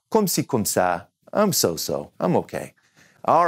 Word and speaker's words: ça: But now, C before an A in French is going to be K. So this little accent here tells us, nope, say it like a S.